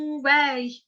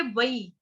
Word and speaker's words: वै: अहम, अहम, अहम वै। अभी वै है ना यहाँ पे लिखा, हिंदी में बोलेंगे वै, संस्कृत में बोलेंगे वई, वई, वई।